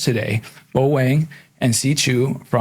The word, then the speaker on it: Chu: My first name is incredibly difficult to pronounce unless you speak Mandarin, so I go by Chu as in Chewbacca or Pikachu.